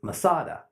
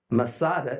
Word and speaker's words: Masada: ascend every year is Masada Masada is merely a Roman way to pronounce the Hebrew word Metz ah da fortress